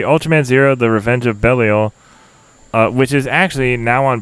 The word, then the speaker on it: Belial: of fan-favorite movie Ultraman Zero: The Revenge of Belial, which is actually now on Blu-ray. Is it in the Ultraman Zero collection, which I picked up? Is it Belial or Belial? It's Belial.